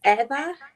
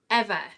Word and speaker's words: Ewa: And can I just double check it is pronounced Ewa? It's Eva. Eva.